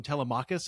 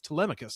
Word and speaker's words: Telemachus: I always used to listen, growing up, I called him Telemachus, and then I'm like, oh, fuck, it's Telemachus. So Telemachus. You put the wrong emphasis on the wrong syllable.